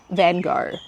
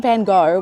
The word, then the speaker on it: Van Gogh: He did videos on the Impressionists, and here's the tea, Vincent Van Gogh, which I know is actually Van Gogh, okay, I'm sorry.